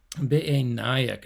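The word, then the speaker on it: בְּעֵינַיִךְ: I think I mispronounced that when we went through before. Be'enayik, nice pausal form there.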